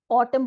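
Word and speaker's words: autumn: वो साइलेंट हो गया हमने उसको अपने प्रोनंसिएशन के लिए ऑटम बोला ऑटम ना नहीं बोला ऑटम एन यहां पे साइलेंट हो गया नेक्स्ट वर्ड हमारा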